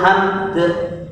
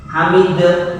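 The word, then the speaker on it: حمد: Yang berikutnya walillahil hamdu dibaca walillahil hamd. Hamd boten dinakel hamd, boten hamd atau hamid. Kalau dihamid kan dinakalkan, dipindah harokatnya.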